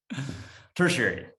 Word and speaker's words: tertiary: that right jenny treasury i'm really bad at saying that word tertiary that's what it is that's how you say it all right so